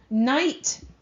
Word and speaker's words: knight: is number nine okay knight k is silent which means that k